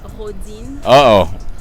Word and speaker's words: Rodine: I mean, the way you're supposed to say is Rodine.